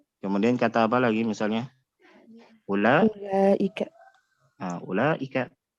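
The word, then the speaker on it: أولئك: Ulaika. Ulaika. Jadi secara penulisan dia ada waw setelah hamzah, tapi secara pengucapan tidak. Jadi bukan panjang, tapi pendek. Bukan ulaika, bukan, tapi ulaika langsung masuk ke huruf lam.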